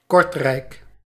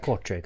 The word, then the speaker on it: Kortrijk: Kortrijk. One more time? Kortrijk. Kortrijk, okay, thank you very much.